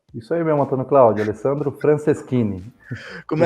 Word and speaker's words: Alessandro Franceschini: É assim mesmo que pronuncia, Alessandro? Isso aí mesmo, Antônio Cláudio, Alessandro Franceschini.